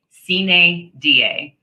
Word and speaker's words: sine die: It takes effect 90 days sine die. And yes, I had to write down the pronunciation for myself and highlight it over here.